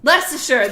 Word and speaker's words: Leicestershire: I don't know how to pronounce it. Leicestershire. Leicestershire.